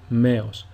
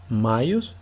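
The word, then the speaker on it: μαϊος: sound of epsilon, and you would say Meos. But because the first letter alpha has a tone, you read alpha iota as two different letters. So the word is pronounced Maios instead of Meos.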